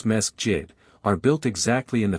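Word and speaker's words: مسجد: The mosques, which they pronounce mesjid, are built exactly in the fashion of our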